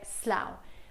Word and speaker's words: Slough: Questa è Slough. Comunque la pronuncia è OW, come nella parola how o cow o allow, ok? OW.